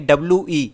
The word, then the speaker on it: Vi: हो चुका है एंड वो यहाँ पर मर्ज होकर यहाँ पर वी के नाम से अब बन चुके हैं। वी को हम प्रोनाउंस करेंगे WE, जो होता है वी।